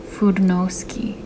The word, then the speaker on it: Fudenosuke: Okay, side note, Fudenosuke. That's what my YouTube commenters told me the correct way to pronounce it.